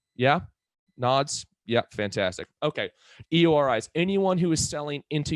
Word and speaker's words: EORI: not going to matter an eori number or an iori as some people pronounce it is effectively a passport